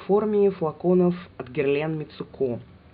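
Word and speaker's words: Mitsouko: форме флаконов от Герлен мицуку правильно по японски будет без ударений кстати насчет Японии тоже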